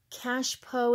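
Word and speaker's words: cache-pot: what they call a cash pot is what the word looks like but in French it's actually pronounced cash PO and my French is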